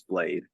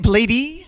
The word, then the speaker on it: Blade: interview with him, and Nardwar called him Blady, and he said it's Blade. Canada, and we can't forget Blady. Blady. Yeah. Is that how you say it, Blady? I said blade But you can say Blady too.